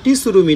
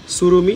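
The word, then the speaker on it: Tsurumi: যে সুরুমি এটা কিন্তু টি সুরুমি না উচ্চারণটা একচুয়ালি সুরুমি এটা জাপানিজ একটা ব্র্যান্ড এবং এবং এই সুরুমিতে টি এর উচ্চারণটা হয় না এখানে মেড ইন তাইওয়ান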